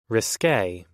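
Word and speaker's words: risqué: One of which is usually risque. First off, that's how you pronounce this.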